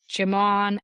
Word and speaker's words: Djimon: It's spelled Djimon. So I'm gonna say it's a just sound. Jimon Hounsou.